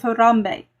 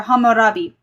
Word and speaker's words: Hammurabi: That's why the you have the code of Ernamu, you have the code of lipidar, you have the code of Harambe or Hammurabi.